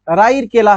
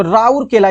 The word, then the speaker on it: राउरकेला: सा है ध्यान देंगे राउरकेला राउ केला है तो राउर केला इसको बना लेंगे किसका सही उच्चारण राउरकेला है लॉ इस्पात कारखाना के